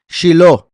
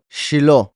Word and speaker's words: Shiló: Shiló, que sería como Sheila. Vean, debería ser así, Shilo, pero en la Torá está escrito así. Se pronuncia igual, pero vean que termina con una he en vez de con una va.